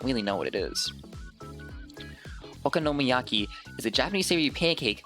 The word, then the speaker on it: okonomiyaki: Thank you for adding the pronunciation. You know I'm stupid. Okonomiyaki.